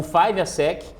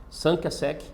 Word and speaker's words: 5àsec: segunda quinta quinta série mas a origem da marca ela é francesa então também existe uma pronúncia em francês é me perdoem né todos os todos os professores de franceses aí mas o Seria algo próximo a Samp ou cinco né sangue a seque sanca seque então a marca quando